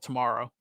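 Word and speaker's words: TMRW: It's called Tomorrow. TMWR is how it's spelled.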